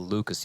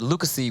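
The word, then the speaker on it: Lucas1: pronounce the 1, but for Lucas, you just ignore the 1. It's kind of not fair, I feel. But Lucas E would sound a little weird, Lucas E, yeah.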